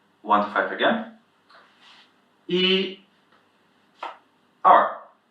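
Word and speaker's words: 二: the "e" sound is a bit different from the way pronounced in English it's a bit about this er sound so èr, èr.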